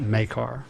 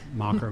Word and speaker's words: Makar: So this is Makar, not Mocker, Macker, or whatever.